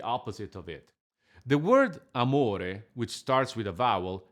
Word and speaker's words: amore: In Italian, we don't use glottal stops because of the legato, which is exactly the opposite of it. The word amore, which starts with a